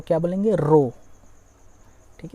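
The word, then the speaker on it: rho: ठीक है, इस सिंबल को क्या बोलेंगे, रो। ठीक है, इसका प्रोनाउंसिएशन होता है रो, ध्यान से, पी की तरह होता है, ऐसा आप मोड़ दें इसको।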